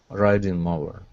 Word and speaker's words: riding: here is writing okay make sure to pronounce a d sound here instead of writing more it's writing the writing mower riding mower great great all right